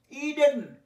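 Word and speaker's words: Eden: এগুলো এক্সেপশন বলে দেখাচ্ছি, ই দিয়ে শুরু হয়েছে কিন্তু উচ্চারণ ই দিয়েই, শর্ট ভাওয়েলের এ নয়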